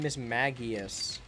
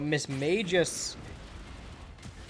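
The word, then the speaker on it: Mismagius: So, like, I always said Miss Magius. But Miss Magus, I'm now forcing myself to say. Miss Magus, I think pronunciation-wise makes more sense because then it's a pun.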